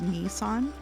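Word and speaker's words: 兄さん: to tell you that nii son is pronounced Nissan and Ne is pronounced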